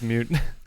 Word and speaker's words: moot: Kind of like boot? Boot without the B.